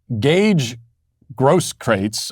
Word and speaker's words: Grosskreutz: This is Gage Grosskreutz, I think is how you pronounce his name.